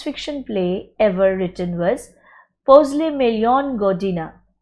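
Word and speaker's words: Posle milijon godina: First science fiction play ever written was Posle Million Godina. Actually, the pronunciation is Posle Million Godina, After Millions of Years, by Serbian playwright, poet, and politician Dragutin Ilic.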